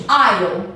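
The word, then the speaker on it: aisle: Então esse S a gente não pronuncia, a palavra I é corredor.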